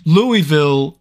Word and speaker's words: Louisville: you do oh okay real quick the worst pronunciation mistake somebody got somebody gave me a really hard time because I said Louis Louisville instead of Louisville Kentucky I'm sorry I'm not